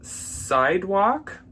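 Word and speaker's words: Cydwoq: These are by a brand called Sidewalk. Spelled. You need to know how it's spelled because it's not spelled like Sidewalk.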